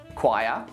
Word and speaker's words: choir: Ache, anchor, architect, chaos, charisma, choir, chord, echo, honest, school, stomach.